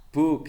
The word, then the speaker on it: book: If you find the English word that consists of two O, it must be pronounced U. U agak panjang dikit. Book gitu.